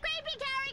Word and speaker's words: Carrie: Miss Finch, you sending Cassie right? It's Carrie. You can't even get the name right?